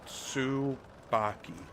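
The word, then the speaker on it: Tsubaki: Uh, it is subaki. So, it is like you start with a t sound. S and you make it sound like you're saying sue but s. Baky. That's how you pronounce it.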